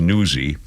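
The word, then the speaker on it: Nuzzi: Washington correspondent named Olivia nuzi it's probably pronounced newsy which is ironic she's a news person pronounced newsy uh she's on leave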